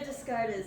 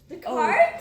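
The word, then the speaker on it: Descartes: That's very discarded of you. Thanks. Display. Discard. cart. The cart. That's how you say it. Remember, it's French.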